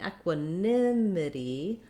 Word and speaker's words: equanimity: that clear f vowel but in equanimity our nim syllable is where we have the stress so you want to hold your nim longer and be shorter and more reduced on the other sounds so um we have